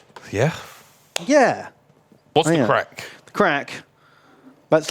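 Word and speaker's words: craic: you making that noise but it's spelled differently Craig c-r-a-i-c crack what's the Crick what's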